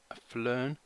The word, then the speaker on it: PHLearn: person called pH learn I think you just pronounce it flarn but if you want